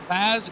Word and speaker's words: Paz: As as uh a quote from Mason Mitchum, Paz is pronounced just as it sounds, which yes, that is how Yeah, that's how sounds work.